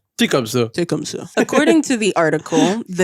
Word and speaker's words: Tecumseh: It's pronounced as Tecumseh.